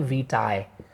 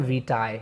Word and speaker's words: vitae: एक तो सबसे पहले इसकी प्रोनाउंसिएशन, ज़्यादातर लोग इसे मिसप्रोनाउंस करते हैं। इसको हम इंग्लिश में कहते हैं करिकुलम वीटाए। ध्यान रखिएगा, करिकुलम वीटाए, दिस इज़ कॉल्ड वीटाए, से वीटाए प्रोनाउंस करते हैं, पहली बात।